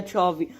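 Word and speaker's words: Xavi: Chavi. Chavi.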